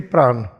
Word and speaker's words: praana: What is the praana? How we pronounce praana? P R A A N A Praana.